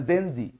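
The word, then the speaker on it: zenzic: এই সেন্সিকের উপরে আবার সেন্সিক মানে জেনজি এভাবে বলতেছে উচ্চারণটা এরকম জেনজি তার মানে প্রথম জেনজিক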